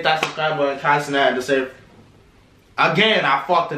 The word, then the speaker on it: Deshae: Why did I say his name like that? It's Deshae Frost.